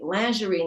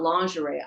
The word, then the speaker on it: lingerie: I said, Daddy, that's not the way that the other waitresses pronounce it. And he said, and you should say lingerie, not lingerie.